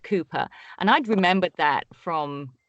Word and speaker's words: Cowper: we checked pronunciations like kupo the poet William Cooper which is spelt Cowper pronounced Cooper and I'd remembered that